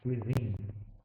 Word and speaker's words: cuisine: It's pronounced cuisine.